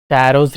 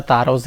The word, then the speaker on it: Taro's: ठीक है ना, टैरोज रिवार्ड पढ़ो या तारोज रिवार्ड पढ़ो, वन एंड सेम थिंग। ठीक है, किसी तरह से भी आप प्रोनाउंस कर सकते हैं।